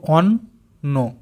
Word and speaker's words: অন্ন: এটা দেখো অ দন্তন্বয়ে দন্তন্বয়ে, তাহলে দুটো দন্তন্য হচ্ছে, আমরা কেটে কেটে উচ্চারণ করব অন্ন, একসাথে ভালো করে বললে অন্ন।